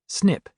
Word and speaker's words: SNP: One of the most important pieces of the genetic puzzle is a type of variation known as SNP pronounced SNIP which is short for single nucleotide polymorphism.